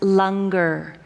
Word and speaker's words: langar: for all of you it's spelled langar but it's pronounced lunger so after the service